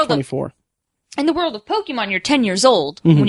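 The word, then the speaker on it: Pokémon: Actually, the correct pronunciation is Pokemon. Oh, okay. With the accent over the E. Pokemon.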